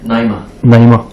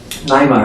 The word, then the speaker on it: Naima: How do you pronounce the name? Naima. Naima, her name is Naima Bloom, and and Naima is a John Coltrane song, and it means, it's Arabic for contentedness.